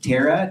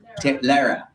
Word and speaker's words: Lara: So, we have, is it Tara? Tara. Lara. I said rhymes with Tara.